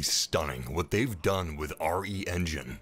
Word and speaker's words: RE Engine: what they've done with re engine or is pronounced re-engine it's incredible the graphics